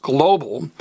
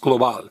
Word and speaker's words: global: in Spanish is pronounced global because this is what I call a lizard word remember if a word in Spanish ends an L Z R or D the very last vowel gets stressed so it's global if